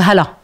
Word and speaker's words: Hala: Et moi, mon prénom, c'est Hala. On est très très loin et qui veut dire bienvenue en libanais, qui est un prénom très usuel et très fréquent. Mais comme il n'arrive pas à prononcer le H aspiré, c'était une souffrance chez moi.